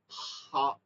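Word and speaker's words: خ: ভাগ শুরু মধ্যখান শেষ এইখানটা থেকে গাইন খ গাইন খা এই দুই হরফই নরম হবে মোটা হবে নরম হবে মোটা হবে আমরা যখন কফ ফালাই তখন একটা আওয়াজ করি না। খ এইরকম উচ্চারণটা আপনার খ এর মধ্যে হইতে হবে।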